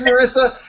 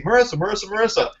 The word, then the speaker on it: Marysa: And I was like, oh, good, because the Y makes me think it's pronounced a special way, and blah, blah, blah. But it's just Marysa. Oh, that's easy. Marysa.